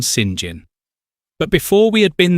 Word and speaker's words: St. John: This brings us to the city of Tank, which is pronounced Tonk for the same reason apparently that the English call halfpenny Ha'penny and St. John Sinjin.